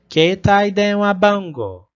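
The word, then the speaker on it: 携帯電話番号: A gente prolonga o som do E ali, né? Keitai denwa bango. E o som do U ali no final, que é o O, né? Que vai prolongar.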